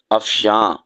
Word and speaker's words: افشاں: ظاہر کرنا، کھولنا، اور دوسرا لفظ ہے افشاں، آخر میں نون غنہ ہے اور یہ استعمال ہوتا